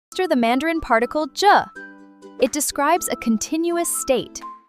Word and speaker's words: 着: Today's absolute star of the show is the dynamic auxiliary word 着, pronounced with a light, neutral tone.